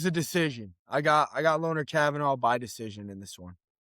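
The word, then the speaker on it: Kavanagh: But moving on, Brennan Royval versus Loner Kavanaugh. I found out it's pronounced Loney, not Loner.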